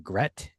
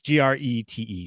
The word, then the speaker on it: Grete: How would you say her name? Grete? Yeah, I was saying Gret. Gret. Okay. It's Grete.